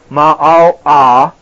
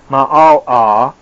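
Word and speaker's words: מעלה: The word pronounced ma'al-ah, M-A-H-A-L-A-W, ma'al-ah, became, or becomes in English, elevation.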